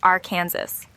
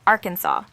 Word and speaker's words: Arkansas: the club number 61 the pronunciation of Arkansas was formally defined by the state legislature due to a disagreement between its early Senators some insisted on the French derived pronunciation Arkansas While others preferred the Americanized R Kansas to settle the matter lawmakers officially chose Arkansas aligning with the original French influence but adding a uniquely